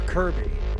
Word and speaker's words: Kirby: do with knowing your Kirby know your Kirby kby Kirby I don't know how you found this song but Kirby rhymes with Derby so how are we